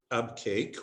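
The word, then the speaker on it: Abqaiq: that's bahrain and this lovely spot is called ab cake or albuquerque and you have the haran alcobar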